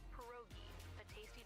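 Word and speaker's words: pierogi: It's pronounced perogi. like dumplings.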